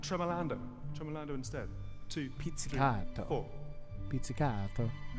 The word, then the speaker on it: pizzicato: Pizzicato. Notice the Italian pronunciation as I was abroad just recently.